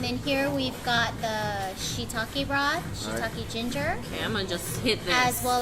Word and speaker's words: shiitake: us they're so awesome yes Holly people it's pronounced shiitake Japanese 101 don't be embarrassed y'all got the